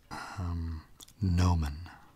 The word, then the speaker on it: gnomon: That's called the gnomon. And that's spelled G-N-O-M-O-N.